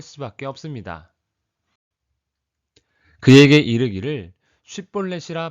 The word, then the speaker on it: 쉽볼렛: 그에게 이르기를 쉽볼렛이라 발음하라 하여 에브라임 사람이 그렇게 바로 말하지 못하고 십볼렛이라 발음하면 길르앗 사람이 곧 그를 잡아서 요단강 나루턱에서 죽였더라. 에브라임 사람들은 쉽이란 발음을 십으로 한 것입니다. 이것은 쌀을 살로 발음하는 것과 같습니다.